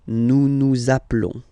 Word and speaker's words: nous appelons: Okay, nous appelons. And then little link would be perfect, so let's pronounce the whole thing again. Nous appelons. Nous appelons. Okay, final s doesn't exist. Nous appelons.